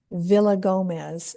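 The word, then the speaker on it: Villagomez: Amelia Villa Gomez, and it's spelled just the way it sounds, V I L L A G O M E Z.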